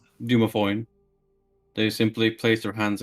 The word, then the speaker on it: Dumathoin: Dumathoin. Dumathoin.